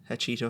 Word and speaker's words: Hachetto: We are in Hachetto HQ.